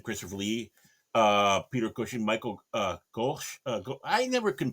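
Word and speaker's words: Gough: Again, Christopher Lee, Peter Cushing, Michael Gosh. I never can pronounce his name properly, I think but it's just Michael you know, Goff.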